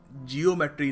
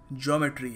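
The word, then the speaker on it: geometry: अच्छा पढ़ाते हैं ना जियोम मेट्री नहीं है ज्योमेट्री है बहुत ही खूबसूरत शब्द है बोलने में भी मजा आता है तो सही तरीके से प्रोनाउंस करिए ना ज्योमेट्री यह तो मैंने कई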